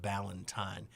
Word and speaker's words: Ballantyne: I made a mistake and I mispronounced her last name. It's pronounced Ballantyne.